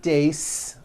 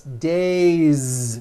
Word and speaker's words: days: It's not days unvoiced. It's days with a voiced Z ending.